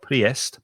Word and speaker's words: priest: between these words priest be careful of the pronunciation there's an ie but the vowel sound is e so it's priest not priest priest minister vicar pastor